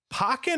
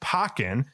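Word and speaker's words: Pokkén: free trial on uh the pokemon fighting game pokken or pokken how did you pronounce it i was thinking pokken i pokey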